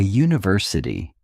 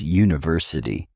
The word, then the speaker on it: university: a university because university starts with a u sound which is a consonant sound.